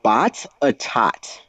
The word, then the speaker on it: Botetourt: It's pronounced Bot-a-tot.